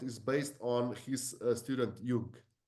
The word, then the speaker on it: Jung: Yes, but our method is based on his student Jung, How do you spell that?